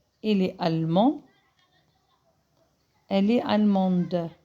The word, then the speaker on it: allemande: Elle est allemande. Je prononce le D parce que j'ai mis le E.